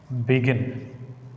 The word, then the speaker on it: begin: Generally, verbs take stress on second syllable. Verbs take stress on second syllable. See it? Begin, contain, believe, extent.